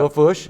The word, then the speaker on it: Lafourche: And that's how it's spelled in French, Lafourche. Lafourche, yeah. Lafourche, that's right.